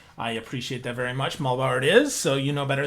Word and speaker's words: Muhlbauer: in the intro i appreciate that very much mulberry is so you know better than me so